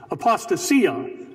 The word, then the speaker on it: apostasia: Some say apostasia. The word is actually, or some say apostasia. I can't even say it. How it's said. Apostasia. It's actually apostasia.